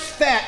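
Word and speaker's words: phat: The teenagers have a word called P-H-A-T. It's pronounced fat, but that means it's a good thing.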